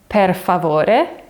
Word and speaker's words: per favore: And if you know some Spanish, you'll need to be really careful with the pronunciation here. So it's not por, but it's per. Per.